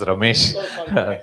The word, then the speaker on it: Romesh: I think you got my name wrong. My name is Romesh.